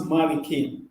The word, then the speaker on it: Maarikeen: Mary Kate so uh like marikin is what is written what is pronounced Maliki it's a monthly King